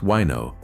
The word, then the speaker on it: Väinö: You point at a small shop in Hubbardston, Massachusetts, and two men named Väinö Halopainen, pronounced Wino, and Roy Handy Jr.